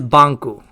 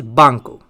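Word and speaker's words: バンク: japanese word for bank is this and the pronunciation of this is banku yes believe it or not it is banku bank in japanese is banku and bank in italian is banker and bank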